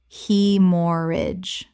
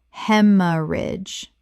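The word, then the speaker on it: haemorrhage: Hemorrhage. Correct pronunciation. Hemorrhage. The AE makes an E sound, 3 syllables, and the GH is completely silent.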